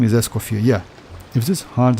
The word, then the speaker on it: Escoffier: I have a little bit like problem with pronunciation, like Escoffier, like because like actually it's a French name and you don't need to pronounce like last R, right?